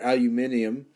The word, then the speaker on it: aluminium: you know how much aluminum or aluminium is how they say it in the UK uh is needed to